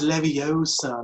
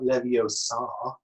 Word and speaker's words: Leviosa: It's kind of like Harry Potter, you know, like it's Leviosa, not Leviosa. I mean, who cares?